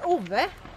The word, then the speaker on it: Ove: - Okay, pronounce the title for me again. - (with Swedish accent) A Man Called Ova. - Yeah, (with American accent) A Man Called Ova is the way that they say it in English.